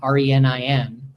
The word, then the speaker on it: renin: Now, I've always felt that the word renin, R-E-N-I-N, should really be pronounced renin. But everybody pronounces it renin, and nobody listens to me.